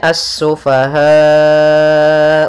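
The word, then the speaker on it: السفهاء: lafal assufaha di sini ada alif lam syamsiah yaitu alif lam yang ditulis tapi tidak dibaca sehingga langsung kita membacanya ke huruf Sin kemudian asufahau wala Kemudian pada alfal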